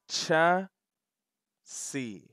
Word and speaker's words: chassis: we're gonna learn the proper term and you pronounce it like this kids cha c say it with me cha cha one